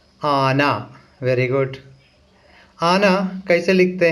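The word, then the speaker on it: ആന: आना। Very good. आना कैसे लिखते हैं मलयालम में देखा जाए। पहले आ लिखना है, उसके बाद ना, आना। ठीक है, तो इसका प्रोनाउंसिएशन आ ना।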